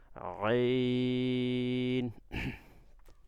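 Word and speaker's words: عين: আইনটা কোথা থেকে পড়বেন, গলার কণ্ঠনালীর মাঝখান থেকে ডাবায়া, আগে যত পারেন ডাবাইবেন, ডাবায়া উচ্চারণ করবেন, আইন।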